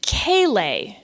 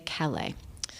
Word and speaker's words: Callais: Well, I would not sit in review over the Chief Justice, but as a New Orleanian, if I just saw that, I would say Calais.